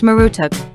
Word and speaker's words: Marduk: of his name three the name Marduk was probably pronounced marutuk 4.